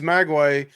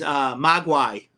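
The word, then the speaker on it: mogwai: Um, So it also, number 6, in Cantonese, Magway means devil, demon, or gremlin. The Mandarin pronunciation is Magway. I may have butchered that completely. right. So Um, anything you want to say about that one, Josh? no, it's I'm the pronunciation I've always knew is Magwai. Magwai.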